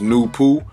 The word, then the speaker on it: Nupu: The name of the first personality is Nupu, pronounced Nupu, and it's no coincidence that the letters number of Nupu is number 9 this way.